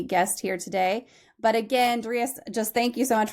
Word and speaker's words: Darius: You know, there's 8 billion people on the planet, and I'm the only person out of 8 billion that pronounces it Darius.